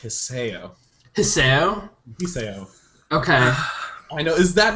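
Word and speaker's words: Hisao: character i found him his name is pronounced hisseo okay i know is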